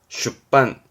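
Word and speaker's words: 出版: 세게 가지고 반복해서 찍어낸 그렇죠 출판의 판자 초판 발음은 쇼한 쇼한 출판은 슈빤 슈빤 뭐 계정판 가위대반 카이떼의 반 최신판 사이심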